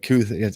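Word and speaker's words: Kuithe: And so obviously I think it's not Kincaid, but Kuth. I always mess up. I've heard pronounced like announcers say Kuthi.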